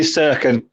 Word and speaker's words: Cirkin: Terry, you call him Dennis Kirkin. Is it Cirkin, Kirkin? Definitely Cirkin.